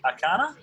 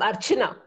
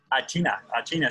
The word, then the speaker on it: Archana: Alrighty, and I hope I say it right, but is it Akana? Is that how I say your name? Hi, Ren. I'm Archana. Archana.